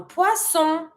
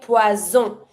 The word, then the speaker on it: poisson: Careful with this one. I hear a lot people say poison. If you say poison with the Z sound, it means poison. Careful. So don't say that. Really force yourself to pronounce it with the S sound. It's smooth. Poisson.